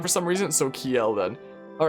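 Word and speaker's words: Kjelle: It's supposed to be pronounced Kjel because Nordic J's make a Y sound for some reason, so Kjel then.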